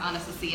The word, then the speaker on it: Anastasia: one is Anastasia sisters okay it just actually pronounced honest to see it just don't know boom are they available